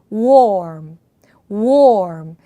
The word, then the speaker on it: warm: 그래서 입을 최대한 동굴 소리를 내듯이 워의 입모양을 만드시고요. 그렇게 해서 입을 천천히 다무시는 형태로 발음을 하시면 됩니다. warm, warm.